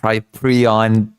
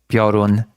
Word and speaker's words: Piorun: a billion times that it's not Prion, that it's Piorun, okay?